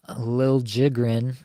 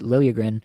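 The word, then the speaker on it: Liljegren: looked this up um Timothy Lil jigan has asked for his name to be pronounced that way after going to San Jose like they pronounced it lilagan in Toronto for years obviously he was drafted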